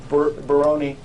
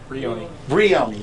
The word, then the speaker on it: Brioni: You don't need Baroni, yeah. I can't even pronounce it. Brioni, thank you.